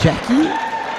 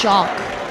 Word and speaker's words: Jacques: So, is that Jackie or Jacques? It's Jacques.